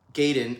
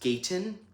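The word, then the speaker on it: Gaten: in that moment like Gaiden I think it's pronounced Gayton I I might be I might be wrong about that though so correct me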